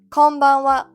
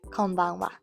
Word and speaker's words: こんばんは: Konbanwa works exactly the same.